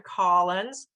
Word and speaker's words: Collins: Collins - ah, ah. So, Dr. Collins is an "olive sock" word, same with hospital.